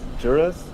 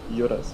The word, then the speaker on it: Jurus: In English, it's Jurus. Jurus and Yurus. Yeah. Urus.